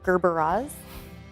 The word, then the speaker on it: Gerberas: So we'll do that maybe with our Gerber daisies. People constantly mispronounce them as Gerber. They're Gerberas.